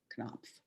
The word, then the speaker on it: Knopf: I think that's how you pronounce it, isn't it? Knopf, K-N-O-P-F.